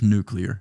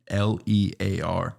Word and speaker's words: nuclear: saying to put the u in front of the l it's just nuclear n u c n-u-c-l-e-a-r nuclear yeah there's no extra you in there we didn't buy that